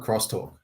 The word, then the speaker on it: X-Talk: crosstalk right spell it still spell it X talk but call it crosstalk because I think that's